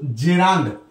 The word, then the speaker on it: gerund: আমরা জেরান্ড শব্দটা পড়বো এর উচ্চারণটা কিন্তু জেরান্ড এই জেরান্ড শব্দটা কাকে